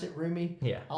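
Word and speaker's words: Roumie: way that Jonathan roomie is that how you pronounce it roomy yeah I like the way he the humanity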